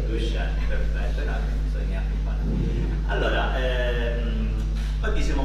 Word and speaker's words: Duchenne: Che poi tra l'altro vedi sono stato anche ho sbagliato anche nella pronuncia del video perché non è Duchenne, è Duchenne. Duchenne, perfetto, bisogna.